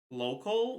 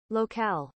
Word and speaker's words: locale: Local? No. That's when there's no E. This is a different word. There's no way they're pronounced the same way.